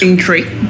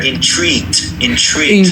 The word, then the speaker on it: intrigued: I was intrigued by. Yeah, so let's get the E sound there. Intrigued.